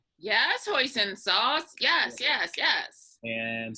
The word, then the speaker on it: hoisin: corn starch water uh salt uh is it hoisin sauce am i pronouncing that right yes hoisin sauce yes yes yes and some sesame oil